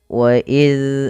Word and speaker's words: وَإِذْ: Pada lafal wa iz akhadna, huruf zal hati-hati jangan sampai terbaca dengan huruf zai ketika dia sukun. Wa iz, zal tipis.